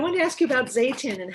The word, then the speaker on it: Zeytin: So that's I don't want to ask you about Zaytoven and how you found it. Am I pronouncing it correctly?